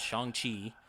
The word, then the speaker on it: Shang-Chi: So it's Shang-Chi.